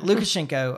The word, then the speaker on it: Lukashenko: exiled to Belarus okay um gosh is it look schenko Lucha yeah yeah really bad at pronouncing names but I do that so yeah no lukashenko uh supposedly um got on the phone with